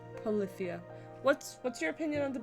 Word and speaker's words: Polyphia: The band, Polyphia? Polyphia? Am I saying that wrong? No, you're saying it wrong. Polyphia.